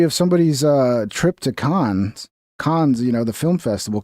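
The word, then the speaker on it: Cannes: It's a diary of somebody's uh trip to cons, you know, the film festival. Canes or cons? I think it's called cons. The right right way to say it.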